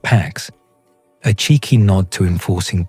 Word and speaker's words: P4X: He adopted the pseudonym P4X, pronounced PAX, a cheeky nod to enforcing peace through punishment.